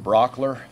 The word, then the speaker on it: Brauchler: questions George good morning my name is George Brock ler last name is spelled B ra u CH l ER I'm